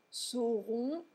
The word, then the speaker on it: sauront: Si vous ne prononcez pas correctement la distinction phonétique entre sauront et seront, ça pourrait poser des problèmes.